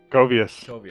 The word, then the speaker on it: Koveus: Today I am joined by, how do you say it, Koveus? I know you as crypto, but Koveus, is that? Koveus. Okay, Koveus.